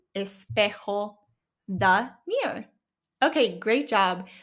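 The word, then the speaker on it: espejo: But remember the J in Spanish makes an H sound in English. L espec the mirror.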